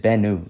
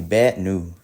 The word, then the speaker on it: Bennu: All right, pronunciation of Bennu, the asteroid. Oh, just Bennu. Okay, Bennu. Okay, so I'm pronouncing it correctly.